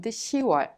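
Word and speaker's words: 시월: It's not 10월, but it's 10월. It is much easier to pronounce 유월 and 10월.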